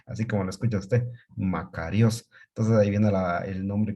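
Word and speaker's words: μακάριος: es la palabra feliz felices en griego se pronuncia makarios así como lo escucha usted makarios entonces está viviendo el nombre que estos conocemos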